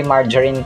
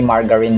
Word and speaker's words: margarine: And by the way margarine po ang pag-pronounce hindi margarine mga kaamb sa American English.